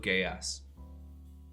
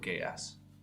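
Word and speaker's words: Geass: love it followed by code gayas and yes that's how it's pronounced code ks love it i and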